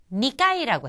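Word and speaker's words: 二階: 자 오늘 나온 단어 중에 2층이라는 것이 있었는데 2층 니까이라고 했죠.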